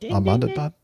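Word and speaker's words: Ahmedabad: A um Boeing yeah Boeing 787-800 operated by Air India uh at uh Amadabad. Is that how you pronounce that? Amadbad.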